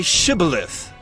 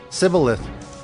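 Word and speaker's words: shibboleth: they said to him then say shth and he said cilith for he could not pronounce it right then they seized him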